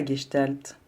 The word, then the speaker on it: Gestalt: thérapie c'est quoi la guestalt HM vous attendez ça sonne un peu allemand dans ma bouche mais effectivement je le prononce à l'allemande en l'honneur du fondateur